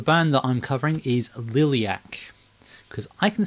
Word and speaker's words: Liliac: the UK education system a funky looking word that's pronounced exactly as it's written and I still can't pronounce it um but still yes so liliac uh the band from